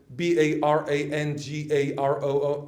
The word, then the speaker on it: Barangaroo: You know, barangaro, bangala, nunara, always on the first syllable.